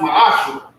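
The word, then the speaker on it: מעשר: Means tenth in the Hebrew, and it's pronounced ma'ashra.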